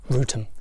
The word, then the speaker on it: Wrotham: village called well it's written rodham but it's pronounced rutum it's a place i've been to before upcoming